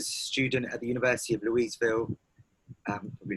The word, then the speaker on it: Louisville: The way they pronounce it is Louisville. They pronounce it Louisville. Louisville.